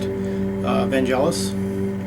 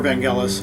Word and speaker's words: Vangelis: favorite artist, great artist, Vangelis, or Vangelis, I think that's the proper pronunciation.